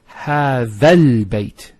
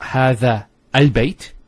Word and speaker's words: هذا البيت: It's هذا البيت. So, it's not هذا al-bayt. You don't pronounce this hamzat al-wasl here. So, you go from this alif to this lam.